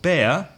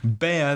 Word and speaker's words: bear: So remember not to confuse the pronunciation of bear with beer, cerveza. Okay. Bear, the animal, is B-E-A-R, air. The pronunciation is air, like the air that you breathe, air, bear.